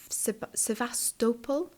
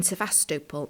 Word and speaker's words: Sevastopol: to the sasta now I always pronounce that incorrectly I think it's sevastopol sevastopol to the sevastopol